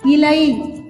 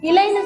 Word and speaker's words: இலை: ல இந்த எழுத்துக்கு பேரு நுனி ல நுனி லஃர் எக்ஸாம்பிள் இலை இலைன்னு சொல்லுங்க. இலை இலைன்னு சொல்லும் பொழுது இப்படி வரிஞ்சி நுனில உங்க நாக்கு இருக்கும். நுனி ல இந்த எழுத்துக்கு அடுத்த